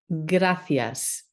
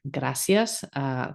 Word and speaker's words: gracias: It's okay if you pronounce it gracias too. That's perfectly fine. In most of Spain, you will hear gracias. But if you say gracias, everybody will understand you.